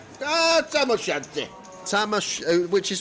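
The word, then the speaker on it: tam o' shanter: And according to Lime it's called a tamosanta. Tamosante. Ah tamosanti. Tama, which is spelled T A M O S H A N T E R.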